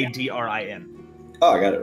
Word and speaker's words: Eladrin: Aladrin. It's actually spelled differently, but whatever. To remember how to say it. Eladrin.